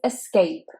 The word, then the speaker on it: escape: Now the thing with escape is that it's actually an I sound at the beginning and not an E. We don't say escape, we say escape, escape. And the stress is on the second syllable, escape.